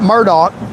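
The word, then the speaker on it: Murdaugh: Now, from a legal standpoint, what happened in in South Carolina, Mr. Murdoch, if I'm saying this wrong right, Murdoch, and it's spelled and it's spelled a mur d a u g h.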